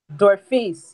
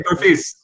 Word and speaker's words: Dorphise: And I don't want to say your first name wrong, so Melissa, please help me. Or you can just ask Dorphise. What's your name? I know how to spell it. I know everything about the name. Just say it out loud so I don't butcher it. Dorphise. You can call me. Okay, Dorphise. That's easy.